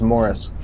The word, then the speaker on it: Maurice: stronger more strong yeah it's spelled maurice but he says it's morris interesting uh those guys